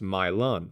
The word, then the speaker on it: Milan: a Southern accent the city's name is actually pronounced milon and originated in the 1850s when a Louisville